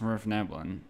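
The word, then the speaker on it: svirfneblin: Um, and uh, it's pronounced Rift Neblin, and it's spelled kind of like how it sounds.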